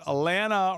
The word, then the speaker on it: Alana: Alana rhymes with banana. Come on, guys, you know this.